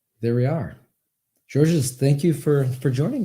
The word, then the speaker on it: Georges: can say George okay in France we say just George we don't pronounce the S okay well thank you